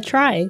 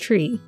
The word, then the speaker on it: trie: A try, sometimes pronounced tree, is a type of tree that stores the value for each node based on its position in the try.